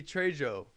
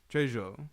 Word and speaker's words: Trejo: It would be Trejo. Trejo, because the J is an H in Spanish. The J is silent. It's an H.